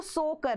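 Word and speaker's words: Tso Kar: अगर हम देखें तो सोकर, जो कि टी यहाँ पर साइलेंट होता है, सोकर जो कि अब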